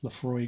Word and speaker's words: Laphroaig: they've actually taken to telling you how to pronounce Lefroy on the box now as well and